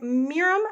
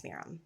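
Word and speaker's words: Mirjam: long time we have Miriam M I think I'm saying that right her name is spelled m-i-r-j-a-m I don't know I think it's Miram and I'm sorry if I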